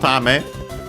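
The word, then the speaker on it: ため: Then we have Tame. Actually, Tame on its own, accented on the last Mora.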